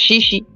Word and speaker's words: Cixi: anti-foreign they uh they they have it spelled cixi yes and but it's pronounced shishi shishi y okay Shi